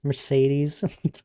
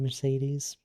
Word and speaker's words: Mercedes: Mercedes is pronounced with like three different soundings of E's. Mercedes.